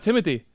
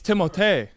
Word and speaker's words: Timothée: It's not Timothy. Dude, you're starting to piss me off. It's Timothée. It's Timothée. It's French.